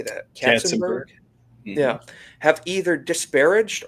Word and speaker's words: Katzenberg: Katzenberg?